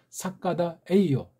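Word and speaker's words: 坂田栄男: 사람 중에 한 명인 판전 영남, 일본 발음으로 사카다 에이요.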